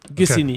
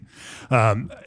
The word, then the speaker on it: Gussignies: Did I pronounce that correctly? Yes, that's it. Gussignies. Okay. Gussignies.